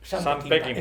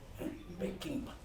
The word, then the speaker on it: Peckinpah: Sam Peckinpah. Es que yo pronuncio bien. Sam Peckinpah. Siempre ponemos esdrújulas, joder. Peckinpah.